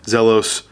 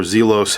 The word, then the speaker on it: Zelos: are very liberally loomed zelos or zelos however you want to